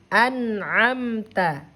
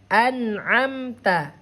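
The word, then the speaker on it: أنعمت: Cara membacanya izhar jelas ya. Apa yang dibaca jelas? Yang dibaca jelas itu suara nun sukun ini yang dibaca jelas ya. Tidak boleh ditahan. An'amta. An'amta.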